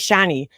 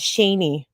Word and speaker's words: Shani: mispronounce names like Shani like everybody else says shiny but for whatever reason she says Shaney Shaney kind of like how